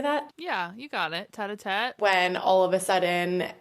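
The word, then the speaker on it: tête-à-tête: Tete-a-tete.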